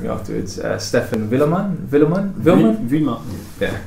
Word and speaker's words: Vuillemin: My name's and I'm here with Sam Taylor, and I'm going to pronounce it wrong, so you're going to correct me afterwards. Stephen Vuillemin?